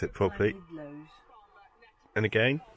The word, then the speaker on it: Llanidloes: Jen's going to pronounce it properly. Llanidloes. And again? Llanidloes.